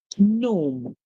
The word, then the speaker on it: gnome: And if you've heard the word before, have you ever even thought that it's spelled like this, as in having a silent G at the beginning, and the O sound